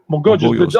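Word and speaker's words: Mogollón: Mogojos. Mogollos. The double Yeah. L in Colombia or in Spanish is always pronounced like J, Yeah.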